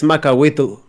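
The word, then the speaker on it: macuahuitl: it in a very weird way, but it's Macahuitl. Yeah, and I do recall getting on him to put a pronunciation guide in the book, which there is,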